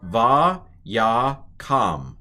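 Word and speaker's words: וַיָּקָם: It's still a kamatz, a long A. So this is va ya kam, vayakam.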